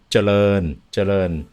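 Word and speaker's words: เจริญ: it in Thai and it starts with a Jochan. So it's Charoen. Correct. I say Charoen, but it's Charoen. Charoen. Okay. Yeah. Okay. Got so Charoen Krung. And if you say it like that, you'll get it.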